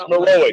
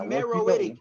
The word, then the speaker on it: Meroitic: It's Meroic. It's Meroic. We can do it right. Pronunciation. You're about to beat this nigga. Hey, look. Hey, X. You're Black Union. It's Meroitic. It's Meroitic.